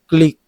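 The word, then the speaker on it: clique: ব্যাকরোড civil নাগরিক ভদ্র ক্লিক এটা উচ্চারণ কি ক্লিক হবে? সি এল আই কিউ ইউ ইলি ক্লি হ্যাঁ সি এল আই কিউ ইউ ই দেখো উচ্চারণ কিন্তু ক্লিক অত ঘনিষ্ঠ ছোট দল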